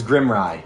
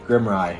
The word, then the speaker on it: Grimrye: It was Grimrye. Grimrye. I remember because I like rye bread, and I'm right.